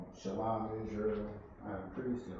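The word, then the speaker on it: שלום: First word is shalom. Shalom. Yeah, sha, la, ma. The sha, of course, by itself or pronounced by itself. The ma and the la is connected, so you have shalom, which means peace.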